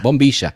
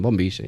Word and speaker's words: bombilla: We call it bombilla in Spanish. Bombilla. Bombilla. That's the correct pronunciation. Bombilla.